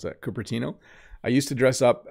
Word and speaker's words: Cupertino: from hiroyuki greetings bob when i lived in curtino in the u.s i see i don't even know how to pronounce that cupertino i used to dress up as a monster